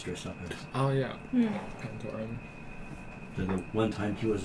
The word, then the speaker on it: Pantoran: Pantoran. The one time he was on screen. Okay, so they say Pantorian is how they say it.